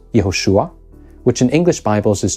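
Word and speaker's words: יהושע: an ancient Hebrew speaker these were really just two different versions of the same name yahushua was the more original and longer form of the name and Yeshua was a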